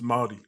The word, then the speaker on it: Māori: everything, because if my understanding is, it's not Maori, it's Maori, right? It's Māori.